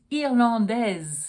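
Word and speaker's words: irlandaise: I would say she's irlandes then I would need the E to allow me to pronounce the S but we're talking about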